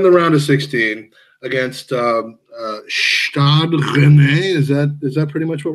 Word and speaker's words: Stade Rennais: So we're in the round of 16 against Stade Rennais.